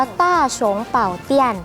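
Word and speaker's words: 大雄寶殿: เรียน นิด นึง ว่า เวลา อ่าน น่ะ จะ อ่าน เหมือน ของ จริง คือ อ่าน จาก ขวา มา ซ้าย นะ คะ อ่าน ว่า ต้าร์ ชง เป่า เปลี่ยน ค่ะ ถ้า ชง เป่า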